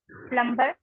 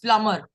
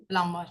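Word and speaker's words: plumber: इसको क्या पढ़ते हैं प्लबर नो इसमें बी साइलेंट होता है प्लमर प् प्लमर ठीक है विल द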